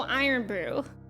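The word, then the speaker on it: Irn Bru: in how are you it's just pronounced like iron oh really so iron Brew so maybe it's just how it iron Brew is how you pronounce it so maybe kiry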